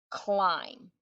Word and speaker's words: climb: so this is the word climb we never hear the word be the sound be climb read that with me